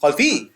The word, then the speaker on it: خلفي: Khalfi.